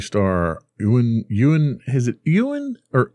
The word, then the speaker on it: Ewan: galaxy obi-wan kenobi star ewin ewin is it ewen or owen how do you pronounce his first name ewan ewan you and mcgregor you're asking me the